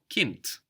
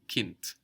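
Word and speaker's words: Kind: the word child Kint Kint again k i n d but we hear a t Kint childhood is Kint height Kint height Kint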